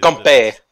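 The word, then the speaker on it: 干杯: Otherwise, Ganbei. Yes. As in the Chinese pronunciation of the same thing we hear from Japan as Ganbei.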